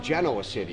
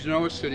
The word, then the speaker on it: Genoa City: Everybody, if you're not from there, you think it's pronounced Genoa City. Nope, it's Genoa City.